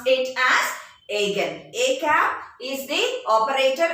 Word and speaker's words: eigen: okay e i g e n students we pronounce it as again a cap is the operator again operator psi